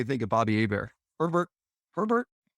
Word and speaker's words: Herbert: Herbert. Rhymes with Sherbert.